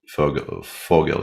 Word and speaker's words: Vogel: It's just Vogel. Yeah, it's not. There's no any diphthongs there.